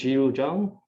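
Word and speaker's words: Zhiru Zhang: bit right um and my name is jiru jung okay so um that's how you can pronounce my name you can also just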